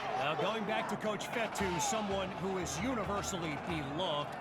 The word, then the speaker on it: Fetu: an excellent run so coach fetu spelled f Tu for the longest time I was pronouncing at coach feta like Feta cheese so let's just say